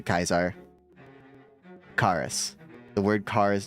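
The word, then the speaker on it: Caesar: C in Latin is pronounced K. Okay. So no I am I am pronouncing it right. I you know a true to Kaisar Kus.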